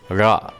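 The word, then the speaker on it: ழ: what you do is you simply roll the tip of the tongue in a curved manner as deep as possible into your oral cavity and you produce the nectar by releasing the tongue now an important note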